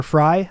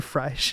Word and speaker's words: Frey: And after he interviewed her, he uh interviewed Mayor Fry, I believe it's pronounced. I've been saying Frey this whole time because I'm Game of Thrones pilled, but maybe that's wrong. Everyone else I've heard has said Fry and the sheriff of Minneapolis.